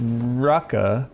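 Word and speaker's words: Raqi: So, the pronunciations I was remembering that we pronounced Rucka spelled R A Qi. Rucka, the the voiceover did.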